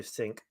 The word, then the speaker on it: cinco: Cinco. No, I mean, like, the only thing I've ever heard is like the O's not pronounced as much would be sync.